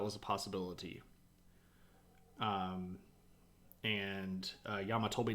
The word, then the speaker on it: llama: is in fact pronounced Yama yeah because two L's makes a y sound um and that's what